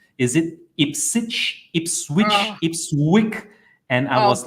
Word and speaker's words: Ipswich: Is it Ipswich, Ipswich? And I was like, whoa. All right, you got to pronounce it like Norwich. So, okay, Ipswich is it.